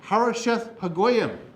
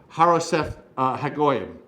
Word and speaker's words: Harosheth Hagoyim: Hazor actually is the way you pronounce that. In Hazor, Sisera, the commander of the army, was based in Harosheth Hagoyim.